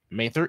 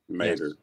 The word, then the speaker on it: Mater: Academy so that is Mather East Academy which is on East ban Mater yes Mater Mater not you got to take out the H oh Mater Mater did